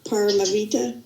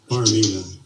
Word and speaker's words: Paramita: I've lost the thread because I'm going to mispronounce it. Paramavita? No. Help me out. Paramita.